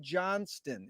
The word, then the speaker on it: Johnston: and a pleasure to be here with johnston is that the correct way to pronounce that that's the correct way john's done